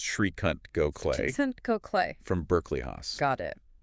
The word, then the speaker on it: Srikant Gokhale: and that's pronounced Srikant Gokhale, Decent Gokhale.